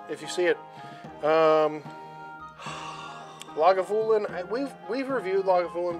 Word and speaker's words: Lagavulin: spelling i don't read lagavulin it's pronounced exactly how it's spelled i don't read